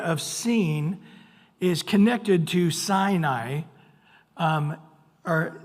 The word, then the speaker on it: Sinai: And somehow the area of Sin is connected to Sinai, or Sinai, actually it is I pronounced as I after an A. So Sinai, we don't know what it means.